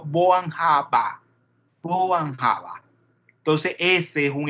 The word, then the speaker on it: Born-Haber: Entonces, en el alemán, cuando ustedes ven la terminación R, esa R se pronuncia como una A. Entonces, en realidad no es Born-Haber, sino Born-Haber.